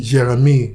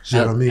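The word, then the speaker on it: Jérémie: Jeremy. Yes, that's how they say it there. Like nice and French. Jeremy.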